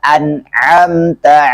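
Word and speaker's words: أنعمت: Jadi bacanya siratal ladzina an'amta 'alaihim. Di sini harus kita perjelas ainnya karena terkadang ada yang membacanya seperti hamzah.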